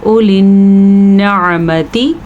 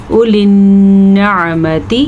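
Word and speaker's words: أولي النعمة: اولی النعمتی، نون کا غنہ ادا کرنا ہے، عین کے تلفظ کا دھیان رکھنا ہے. اگر آپ اولی النعمتی پڑھتے ہیں تو غلط پڑھتے ہیں. اولی النعمتی، عین نکالنے کی پریکٹس کریں، بار بار کریں.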